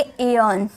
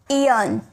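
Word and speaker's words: aeon: ए इ का उच्चारण। जैसे ए इ आई यन। तो इसे बोलेंगे एयन। इयन इयन। ठीक है?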